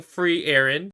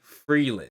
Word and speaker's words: Frieren: fuyu and yeah guys I have acknowledged hey I've been saying free Aaron to me as an English speaker it's a lot easier when you see it spelled like free Aaron to say free Aaron but I understand you German folks and also in in the Japanese dub they do say Freeland so that is the correct way to say it but sometimes free eron